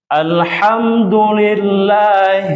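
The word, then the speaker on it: الحمد لله: Bismillahirohmanirohim sudah beda ya lanjut ke Alha ingat yang kedua Alha tadi dengan a yang kedua ya ha kemudian ha kemudian Ain bukan Alif alamin bukan alamin Alhamdulillah Lamin ulangi Ada yang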